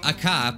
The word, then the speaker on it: Aka: Hood oh god okay a cop probably is how you say it better it meets red